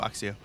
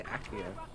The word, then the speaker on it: Accio: Is it Accio or Axio? I say Accio. Good, there you go. That's correct.